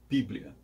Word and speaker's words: Bíblia: chamavam de Biblia e ao passar para o latim a tônica recaiu na primeira sílaba ficando Bíblia esse é o título